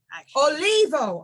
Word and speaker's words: Olivo: here we have somebody very special today Stephanie olivo I don't think I've ever actually said your last name it's always just been Steph or Stephanie did I pronounce it olivo okay yeah that's way better than what I